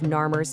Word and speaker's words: Narmer: The complete spelling of Narr's name uses two hieroglyphs, a catfish pronounced nar and a chisel pronounced mir. Read together via the reebus principle, you get narr.